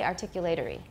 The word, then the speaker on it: articulatory: British we don't say articulatory where's the stress second syllable articulatory everybody I'm sorry we